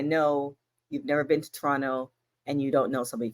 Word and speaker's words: Toronto: the bank weekend in Toronto SmackDown on Friday it's actually it's actually Toronto not Toronto if you say Toronto then I know you've never been to Toronto and you don't know